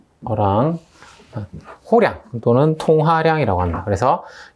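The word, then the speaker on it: Erlang: 20개의 중계선으로 OERL 이렇게 되어 있는데, 이 ERL은 어랑이라고 읽으시면 돼요. 어랑.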